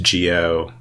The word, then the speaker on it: Gio: tries to do so I compromise on something like Geo but honestly I don't really think it matters how you pronounce it like that's not that important so we we accept Geo and every other variant Under the Sun as for what it